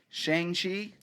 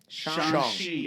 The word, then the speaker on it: Shang-Chi: Shang-Chi? Shang-Chi. I don't know, Shang-Chi. man. It's been like 38 years that I've pronounced it that other way.